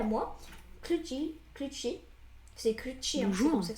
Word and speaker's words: Clutshy: C'est Clutchy, hein, c'est comme ça que ça se prononce. Oui, c'est Clutchy.